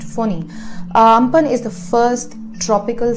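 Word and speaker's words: Fani: Ampan is written A-M-P-H-A-N but is pronounced Ampan, just like cyclone Phoni was written F-A-N-I but is pronounced Phoni.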